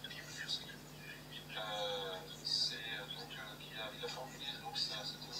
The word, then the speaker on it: Piłsudski: Alors c'est un L barré, donc ce qui prononce gauche, Piłsudski.